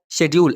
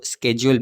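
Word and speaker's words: schedule: करेंगे then asking about शेड्यूल इसको शेड्यूल भी पढ़ते हैं इसको स्केेड्यूल भी पढ़ते हैं आपको शेड्यूल यूज़ करना है अगर आप ब्रिटिश हैं ब्रिटिश इंग्लिश को आप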